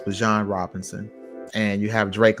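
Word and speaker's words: Bijan: It's pronounced Bjon. So, it's Bjan Robinson.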